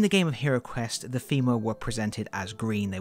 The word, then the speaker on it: Fimirs: Today on the HeroQuest Restoration Project, we are going to be painting some Fimirs, and yes, I pronounce it Fimirs.